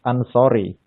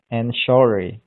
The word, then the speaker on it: Ansori: It's pronounced Ansori in my mother language. It is Indonesia. Ah, okay, cool. Yeah, it's pronounced Ansori, but maybe in English it would be pronounced Anshori.